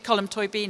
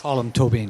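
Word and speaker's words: Colm Tóibín: um I was interviewing colum toy Bean a couple of weeks ago and we had this discussion well there you go I said that wrong toan column I can get right colum tobine column we I was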